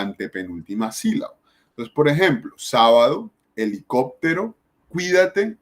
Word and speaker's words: sábado: antepenúltima si la entonces tenemos la palabra sábado dividamos esa palabra yo va a lo decimos sábado ni decimos sábado decimos sábado y significa que el sábado tiene el acento en la antepenúltima si la última penúltima